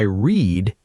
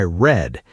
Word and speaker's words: read: Yes, the spelling is exactly the same, but the pronunciation changes. Today I read, yesterday I read.